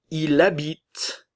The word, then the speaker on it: il habite: Il habite. Elle habite. Que se passe-t-il ici? Le L de il et le E muet, donc le L de elle, vont former une liaison.